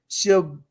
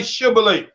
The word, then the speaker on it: shibboleth: If you look at it, he couldn't pronounce the sh in there. Right. He was only, was able to say the si.